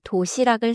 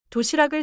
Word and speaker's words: 도시락을: 도시락 뒤에 을이 오면 받침 기억이 이어져서 도시학을이 아니라 도시락을처럼 들려요. 도시락을 싸요.